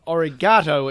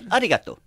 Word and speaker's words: Arigato: You've said it wrong. It's arigato.